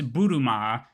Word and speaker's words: Bulma: Pronounced in English with a Japanese accent, it's Buruma, which is a bloomer.